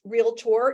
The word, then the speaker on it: realtor: um associations it's pronounced realtor it's two syllables not three so make sure that